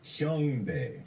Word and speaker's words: Hyungbae: I said Bob was very close, but Sung is not right. He got the first part. It's Hyungbae.